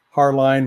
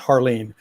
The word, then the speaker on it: Hartline: warned you beforehand uh most everyone pronounces my last name har line when it's actually supposed to be pronounced harleen but that's okay i